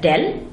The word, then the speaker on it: del: We will be looking at the operator, vector operator called del, pronounced as del, and we will define three functions of a vector: the gradient, the divergence and the curl.